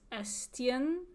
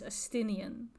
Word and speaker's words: Estienne: I see that it says Estienne, but I have a really hard time to not pronounce this as Estinian from Final Fantasy XIV. Like, I see this as like that's Estinian to me. That's going to be tough to not pronounce that way.